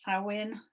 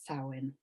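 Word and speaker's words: Samhain: the 31st of october now you might see it pronounced sarwin sarwin i've seen it sew in and for the purposes of this talk i will be pronouncing it sowing and as i said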